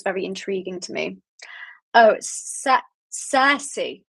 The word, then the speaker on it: Circe: Oh, Circe. It's pronounced Circe. Okay, I'll have to try and remember that. I kept reading it like circus. It's not circus.